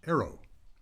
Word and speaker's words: AARO: Welcome to Aerrow Voices, the podcast for American Expatriots around the world, brought to you by the Association of Americans Resident Overseas. A A O pronounced arrow.